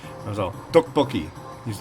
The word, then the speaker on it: tteokbokki: I was all tteokbokki. He's like, yeah, that's how it's said. That's how you pronounce it.